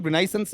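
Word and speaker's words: Renaissance: शुद्ध उच्चारण रनाइसेंस है। फिर अपन हिंदी में आते थे रेनस। ऐसा बोलने लग जाते हैं आपका।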